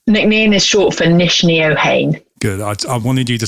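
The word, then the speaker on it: Neachneohain: short for the name nickname is short for niche neohane good i wanted you to say that and pronounce it because i tried to pronounce it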